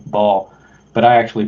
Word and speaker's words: Baal: A lot of people pronounce it Baal. That's like correct how you pronounce the Canaan deity Baal, but I actually pronounce it bailout, like an economic bailout, bailing out the banks.